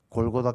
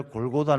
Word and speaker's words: 골고다: 라는 뜻을 가지고 있습니다 원래 골고다 는 이제 우리 식으로 발음 하는 것이고 모굴 갈 타 이렇게